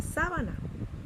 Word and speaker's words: sábana: En la siguiente palabra tenemos la palabra sábana, separada de la siguiente manera: sa, va, na, y la sílaba tónica es sa.